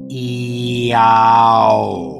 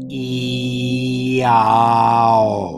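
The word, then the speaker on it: IAO: I-A-O, pronounced E-A-O. E-A-O.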